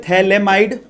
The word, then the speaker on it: phthalimide: ये मैं पहले बता चुका हूं, इसको बोलते हैं थैलेमाइड। ठीक है, थैलेमाइड, स्पेलिंग का फर्क था, याद करिए, यहां पर A आता है, यहां पर I आता है।